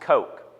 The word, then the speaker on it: Koch: it looks like Koch but his name is pronounced Koch he was 34 years old in 1984 and